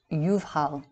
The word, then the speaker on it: Jubal: is spelled variously as ubal yubayo and hubhil pronounced yuvhal it means time exemption release an entire sense